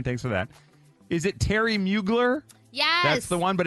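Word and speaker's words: Thierry Mugler: right there 219 thanks for that is it Terry mugler yes that's the one but it's spelled weird it's t h i e r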